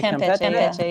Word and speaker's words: Campeche: pronounce that. Yeah, Campeche, yeah.